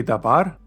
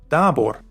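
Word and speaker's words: דָּבָר: also in normal comets hence you say dabar and not dabor now let's get back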